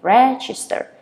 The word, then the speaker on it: register: register so this one you stress on the first syllable you have register and then you can